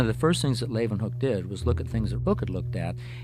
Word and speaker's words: Leeuwenhoek: L-A-Y, lay, u, then, they pronounce it with a V, Hoek, Leeuwenhoek.